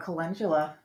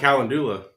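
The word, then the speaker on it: Cotula: like that okay next on the list oh colula I love it I just so I just learned how to pronounce it too we were calling it culla yeah for a long time yeah I mean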